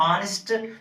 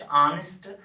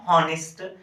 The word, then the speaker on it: honest: Pronounce it ऑनेस्ट, नॉट हॉनेस्ट, एंड similarly here honorable man, and we can pronounce it not honorable but we can use honorable। means अगर हम यहाँ पे देखेंगे ये H silent रहता है, यहाँ पे भी H